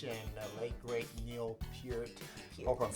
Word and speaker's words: Peart: Rush and the late great Neil Peart. Hope I'm saying it right. I was calling him Neil Peart for the longest, right? But he was Peart, so I hope I'm saying it correctly.